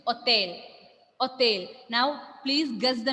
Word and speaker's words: hôtel: In English, we will say, in French, the pronunciation is hôtel.